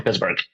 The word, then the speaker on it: Pittsburg: But it's spelled not like Pittsburgh, Pennsylvania. It's like Pittsburgh.